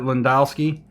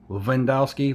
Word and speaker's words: Lewandowski: a soccer player named Robert Lewandowski Levin dusky Levin Dow ski Robert Lewandowski I believe is how you pronounce it correctly and his his cards